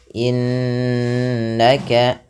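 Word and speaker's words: إِنَّكَ: Kemudian innaka, nunnya berharokat tasydid lagi. Ada nun tasydid atau mim tasydid dibaca dengan bacaan gunnah. Cara membacanya menahan bunyi suaranya sepanjang 2 harokat. Innaka, tidak hanya sekadar innaka, tapi ditahan. Anta, ya, ada bacaan ikhfa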